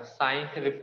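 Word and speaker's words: psi: ये एक इस तरह का डायग्राम देखे होगे टेक्स्ट बुक में, बोलते हैं साइन स्क्वायर, ठीक है ना बेटा, साइन प्रोनाउंस करते हैं।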